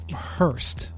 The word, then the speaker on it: horst: You know, the thing about it is, like, if you're going to use the German pronunciation, it's Hurst.